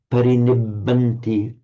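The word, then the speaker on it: parinibbanti: And again, with the care on the double B here, parinibanti anasava.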